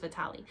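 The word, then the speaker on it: Witalij: go follow him um it's w-i-t-a-l-i-j but it's pronounced vitale um he's like sorry vitaly i don't know where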